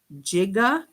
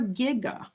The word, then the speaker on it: giga: that as watts so sometimes it has a hard g sound and sometimes it has a j sound but we're going to